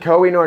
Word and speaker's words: Koh-i-Noor: So we're going to talk about what looks like the Koh-i-Noor diamond. Okay. How's that pronounced? The Koh-i-Noor diamond. Koh-i-Noor diamond.